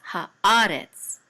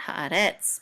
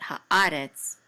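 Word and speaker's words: הארץ: And haaretz has a katon above it, and so the accent is on a, so it's haaretz, not haaretz, but haaretz.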